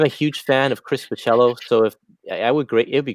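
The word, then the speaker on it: Bachalo: How did you pronounce it again? Curtis? Pacello.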